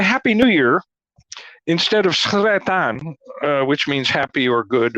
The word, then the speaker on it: Sretan: the way I pronounce Sretan. It should be, the letter S and then a rolling R, but I can't do it.